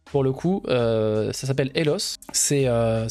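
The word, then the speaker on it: Eloth: Pour le coup, ça s'appelle Elos. Ça s'écrit E-L-O-T-H.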